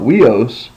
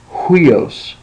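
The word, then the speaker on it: οἷος: a rough breather so the way that we pronounce this is not weos but with a rough breather we say hios so you have to have that h soundos because it has a rough breather there now um the next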